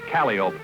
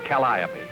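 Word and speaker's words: calliope: with your teachers but in the world of the circus calop is pronounced calop not copy back in the museum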